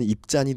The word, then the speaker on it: 입산: 입산이란 이름은 원래 히브리어 발음으로는 입잔이 되는데 그것은 빠르다 이런 의미를 가집니다.